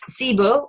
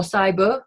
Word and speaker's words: SIBO: So a common issue that we're hearing a lot about now in the public, which is good, is SIBO or SIBO, depends how you want to pronounce it, which is a bacterial problem in the small intestines.